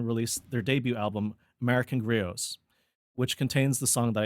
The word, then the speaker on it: griot: their debut album, American Griots, which contains the song that I picked today. When I first read the album name, Griots, I thought that initially they were just pronouncing grits funny.